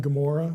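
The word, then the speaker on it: Gomorrah: is gamor Sodom and gomorah we spell it with a G it actually begins with Gan not gimmel in Hebrew so you get the G sound moade if we put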